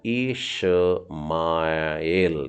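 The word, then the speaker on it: ישמעאל: Shin है ये, देखिए ब्लैक ऊपर का डॉट कहाँ डला है, तो ये हो गया शिन मतलब श, और उसका छोटा उच्चारण है मतलब श बोलने का है। और मेम के नीचे आ की मात्रा मतलब माँ, और फिर एल, तो ये हो गया इशमाएल, इश्माएल।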